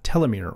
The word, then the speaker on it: telomere: a big role on telomere or key Lemaitre however you want to pronounce that there's two different ways of doing it alterations for if so